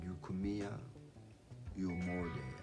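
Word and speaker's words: Eucommia ulmoides: So yeah, the first plant I want to talk about is called Eucomia eumorde. I know I'm not saying that last one part right, but it's spelled after Eucomia is Ulmoide.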